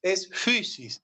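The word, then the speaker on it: φύσις: la fusis Ah mal pronunciado fusis y mal pronunciado fisis así sin más es fusis bueno Son detalles que en un curso de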